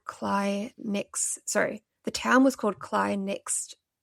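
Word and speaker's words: Cley: So we've had a whole debate that weekend as to whether it was Clay or Cly. It's spelt C-L-E-Y. It was Cly.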